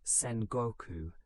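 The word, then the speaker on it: Sengoku: Japan entered the Sangoku period, pronounced Senoku, meaning the waring states period.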